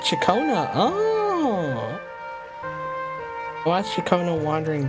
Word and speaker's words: Ciaconna: Back then, Chicon's family conducted the orders quiet. Oh, it's called pronounced Chakona.